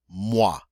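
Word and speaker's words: mois: next one waaah uhh mwah oh I always the walk sound and a mwah is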